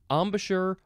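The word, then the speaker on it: embouchure: or let's see Amash I guess you can emphasize the last syllable Amash or Amash it is spelled e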